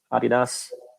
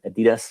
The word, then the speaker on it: adidas: germany i'm working for adidas or adidas or you pronounce it in the us um i'm 13 years